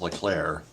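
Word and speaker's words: Leclerc: completes close to a route oh yeah Jose lir it's spelled l cler but it's pronounced lir Right comes on to pitch for the Rangers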